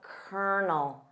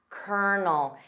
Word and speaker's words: Colonel: notice that pronunciation of Kernel kernel it sounds nothing like the spelling repeat after me kernel